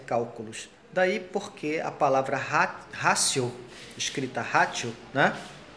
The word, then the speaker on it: ratio: A razão vem da palavra ratio, se escreve ratio com T, R-A-T-I-O, e se pronuncia em latim ratio.